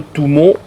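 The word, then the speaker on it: Tummo: le tumau exactement un le touon on le prononce comme ça qui vient de de deux syllabes en tibétain signifie l'ardente ou si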